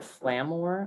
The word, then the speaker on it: FlamaOR: So it's there is one brand of landscape fabric, FLAMAOR, Flamor, I believe is how you'd pronounce that.